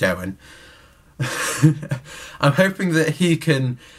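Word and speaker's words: Eoin: essentially I'm hoping that EO Oh e Owen is probably how it's pronounced just Owen I'm hoping that he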